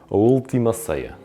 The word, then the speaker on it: Última Ceia: I'm gonna try it. Última Ceia. That's right? Yeah. Okay, I got two Portuguese people with me. They're nodding their heads and saying, you're saying it right.